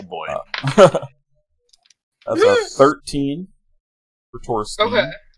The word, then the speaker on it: Torstein: That's a 13 for Torstein. Okay. Torstein. There's really not a set pronunciation. It's either Stein or Steen, whichever you prefer.